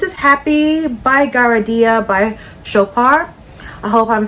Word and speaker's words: Chopard: So this is Happy by Garadia by Chopard. I hope I'm saying that brand's name correct. I believe the D is silent.